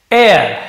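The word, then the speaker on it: heir: गए टू बी हिज यहां पर देखिए एक और आपको नया वर्ड मिल रहा है एयर है ना ऐसे हेयर जैसे लग रहा है बट यहां एयर ऐसे स उच्चारण होता है इसका मतलब वारिस एर कह जाता है एर बहुत से प्र में हेर भी बोल देते हैं बट एर अमेरिकन इंग्लिश में एर प्रशन होता है इसका म वारिस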